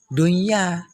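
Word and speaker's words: دنيا: Jangan nanti dibaca kayak baca idgham, salah. Dunya, salah. Yang betul dunya, dunya.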